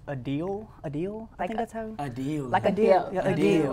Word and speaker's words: Adele: the studio okay turns out we have been pronouncing Adele all wrong I don't know if y'all seen that but she's a deal a deal a deal